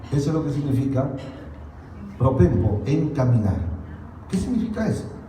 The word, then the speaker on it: propempo: La palabra que aquí se usa en el griego es propempo, así se pronuncia.